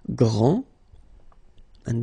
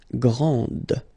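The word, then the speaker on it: grande: exactly the same thing this final is not pronounced okay so GR and then the feminine form Grand okay so you put this and then you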